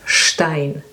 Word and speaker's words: Stein: In English it's st, like stone, but in German it's st. So we say Stein, or the city we had before, Stockholm, Kapstadt. So ST combination is pronounced like SHT, you would say in English, st.